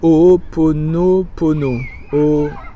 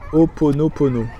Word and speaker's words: Ho'oponopono: Et d'ailleurs, je le prononce jamais bien. Donc je sais pas combien il y a de O, mais c'est Ho'oponopono. Ho'oponopono. Voilà.